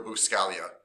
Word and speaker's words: Buscaglia: learning by leo scalia although it looks like it's spelled loose gaglia but it's leo buscaglia but anyway leo b